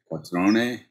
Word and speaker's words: Quattrone: So I think other Italians would pronounce it quattrone. But okay. Southern Italy is quattrone.